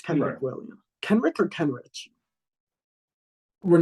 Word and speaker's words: Kenrich: It's Kenrick. It's Kenrick. Kendrick. I said Kendrick. Did you say Kendrick? I said Kendrick. Yeah. I used to say that. I know, right? No, it's Kenrich.